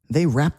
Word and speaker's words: wrapped: You can almost hear that ed go away at the end of the word when you say it quickly.